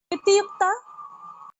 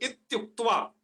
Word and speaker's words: इत्युक्त्वा: हाँ उक्ता नहीं है, उक्त्वा है। उक्त्वा, ओके। हाँ तो बोलिए एक बार उच्चारण सही से। इत्युक्त्वा।